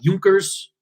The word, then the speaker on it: Junkers: big resistance are the Junkers. I think you might look at it and say Junkers, but I think it's pronounced with like a U for the J.